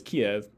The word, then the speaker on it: Kiev: russian russian-speaking city so traditionally we've referred to this city as kiev at least that's the way i would normally say it in english uh and why do